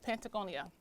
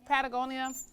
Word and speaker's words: Patagonia: Speaking of the first one is Pentagonia. Did I say that right? Pentagon. Patagonia.